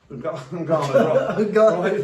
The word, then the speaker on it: Ngannou: a mate in the corner, how do you pronounce his second name again? Ngannou, right.